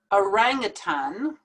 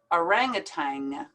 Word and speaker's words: orangutan: not buffett buffet now there's two ways to pronounce this word some people pronounce it orangutan and some people pronounce it more in american english orangutang orangutan orangutang i normally pronounce it orangutang ballet now this ending